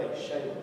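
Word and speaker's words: Xela: But the locals called it Shela. It's actually X-E-L-A, Shela. That's the way they pronounce it.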